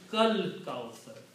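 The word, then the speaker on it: الْكَوْثَر: Kal kausar. Separate it is like inna a'tayna ka al kausar. But when you recite together, you pronounce kal kausar.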